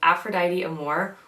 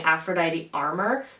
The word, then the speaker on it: Aphrodite Amour: I picked up Aphrodite Amour, which in my review video I kept saying Aphrodite Armor because I glanced at it quickly.